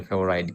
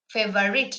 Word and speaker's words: favorite: because Cricket is my favorite game sometimes also it means rather the the proper way of pronouncing it is that favorite not favorite I am I read